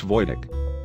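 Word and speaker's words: Wojtek: pet and decided to name him low-tech pronounced Voytek the soldiers cared for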